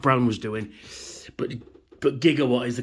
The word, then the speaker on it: Gigawatt: out of the way and here is right jigawatt is what they say in the movie and that's what his name is jigawatt but I will pronounce it gigawatt because that's the correct pronunciation I don't know